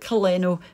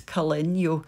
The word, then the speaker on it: Caleño: a Spanish brand because I think the wee squiggle above the N changes the pronunciation. So it looks like Caleno, but I reckon it's Caleño.